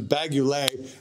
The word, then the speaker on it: Engl: go that's the uh how the hell do we pronounce that again vaguely not not ugly not not balaguer that's a that's a us brand this is bagulay and the angle stuff